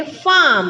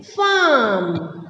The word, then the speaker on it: farm: हमको आर को नहीं पढ़ना है, उसकी जगह पर जो वॉवेल है उसको हम खींच के पढ़ेंगे।